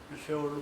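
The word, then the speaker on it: שאול: 자, 여기에 음부라는 것은 이제 성경에 이제 소울이라 그래요. 세월로 발음, 소울 그러지만 소울보다 좀 강하게 쉐올로 발음하는 게 더 나을 것 같아요.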